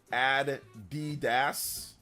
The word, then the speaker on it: Adidas: I recently found out people in the UK pronounce Adidas differently it's pronounced Adas ad D sounds like a song addum Here Comes